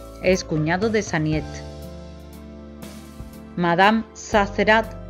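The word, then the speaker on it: Sazerat: Madame Zazerat, durante más de 25 años François se refirió a ella como señora Zazerin, a pesar de escuchar recurrentemente la correcta pronunciación del nombre.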